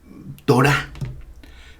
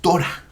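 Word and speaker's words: תורה: Puede decirse Torah. No es Torah, es Torah. O Shabbat. algunos lo dicen Shabbat, bueno, es cuestión de la escuela donde se aprendió, pero en el lenguaje hebreo el acento recae siempre en la última sílaba.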